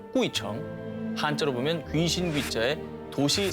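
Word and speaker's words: 鬼城: 다녀가기만 해도 장수한다는 전설을 가진 중국 발음으로 꾸이청, 한자로 보면 귀신 귀자에 도시 성자를 쓰는 그야말로 귀신들의 성, 귀성입니다.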